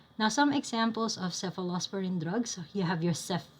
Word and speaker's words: cephalosporin: to sefalosporin sefalosporin uh one way to remember them is that they would start with seph like a cph or a CF I mean they're pronounced the same they're both seph so sephos parins now